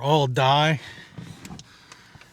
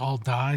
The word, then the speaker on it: Aldie: I don't know if it's all D or all die, but it's kind of pronounced like all die.